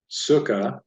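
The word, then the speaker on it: סוכה: So I have here the word in Hebrew, sukkah, sukkah. So we have Samech, of a kibbutz that says u, su, kaf that has the ka sound, kumates has the ah sound, and then hey. Two-syllabled word. Sukkah.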